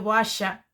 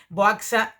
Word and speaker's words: Boaxa: castellano no existe demasiado el sonido Boasha, que es como se pronuncia en gallego, y tenía miedo que la gente llamase a la obra Boaxa y Carmín, que me parecía como